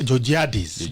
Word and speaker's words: Georgiadis: be here uh-huh yeah so that name is pronounced as giorgiadis jojadis so i'm an advocate